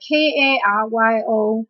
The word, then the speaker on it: karyo: For describing things that are shaped like a nucleus, we use C-A-R-Y-O and the K-A-R-Y-O. Both of them are pronounced as karyo, and also nucleo, N-U-C-L-E-O.